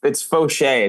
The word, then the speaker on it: Faucher: It's Faucher. It's it's French.